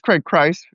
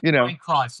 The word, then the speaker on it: Craig Christ: Um, that's how you pronounce it, isn't it? Craig Chris. Well, it's Craig Christ. Uh, Craig Christ.